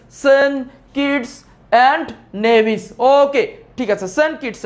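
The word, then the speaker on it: Saint Kitts and Nevis: আবার উচ্চারণ করবা সেন্ট কিডস এন্ড নেভিস। সেন্ট কিডস এন্ড নেভিস।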